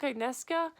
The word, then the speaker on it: Agnieszka: It's basically about this girl named Agnieszka, is how they say it in the audiobook, Agnieszka, and there's this entity